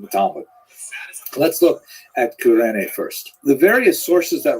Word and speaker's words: Cyrene: I've looked it up and I've heard it pronounced as Cyrene in English. In Greek, it would have been something like Kurene. So I'm probably going to say Kurene, and I'll probably be wrong, but this wouldn't be the first time.